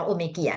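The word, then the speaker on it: Omegia: เทรด name เ ก็ ชื่อ ตัว โอเมเกีย อ่าน ว่า โอเมเกีย นะ คะ ตัว นี้ ก็ คือ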